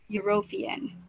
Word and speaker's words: European: Karena dia vowel, tapi ketika diucapkan menjadi consonant. European.